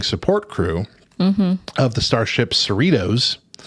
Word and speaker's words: Cerritos: Star Trek Lower Decks is an animated adult series that follows the low-ranking support crew of the starship Cerritos, rhymes with Fritos or Doritos, in the 24th century.